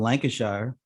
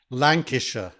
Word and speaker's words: Lancashire: you and i'm from lancashire is that how they say it there no we say that was lancashire well in wilmington delaware we say lancashire you pronounce the whole shire word we just say yorkshire